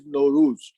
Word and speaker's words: Nowruz: We have another word that rhymes with Nimruz, and that is Nowruz.